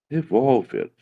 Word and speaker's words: revólver: Revólver, não. Revólver. Vamos separar a palavrinha revólver. Separar sílabas de revólver para vocês verem que não é a mesma regra. Revolver é uma paroxítona terminada em R.